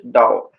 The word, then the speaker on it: Tao: For Tao we write Ta Ao This pronunciation is originally A Dao Chinese pronunciation which is original is Dao and its meaning which